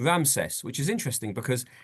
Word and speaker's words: Ramesses: And you'll notice as well, I put it over here, this name Ramses, which is interesting because in the way it's pronounced is Ramesses, and in the Torah, the name occurs a number of times, Ramses.